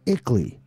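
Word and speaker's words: ICLEI: around the world equally as the acronym is pronounced brings the international into your town you don't need aldermen anymore you've got ickley you don't even need a mayor you've got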